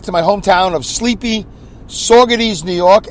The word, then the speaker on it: Saugerties: And I'm headed home, back to my hometown of sleepy Saugerties, New York, S-A-U, not S-A-W the way I pronounce it, S-A-U the way you spell it, Gerties, G-E-R, Ties, T-I-E-S.